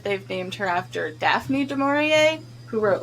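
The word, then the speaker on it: Du Maurier: Jack goes to Hannibal's therapist uh who they pronounce her name in one of these episodes and it's de maurier which I wonder if they've her name is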